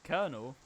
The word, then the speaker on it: colonel: Colonel? Yeah, Colonel. Colonel. I mean, Colonel's pronounced like There's it's no R in there. K-E-R. Like Colonel. Like you know, when you put chickens in.